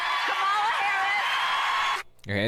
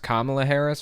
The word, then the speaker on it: Kamala Harris: have articles of impeachment to impeach Joe Biden Cala Harris it's pronounced Kamala Harris first of all second of all impeachment articles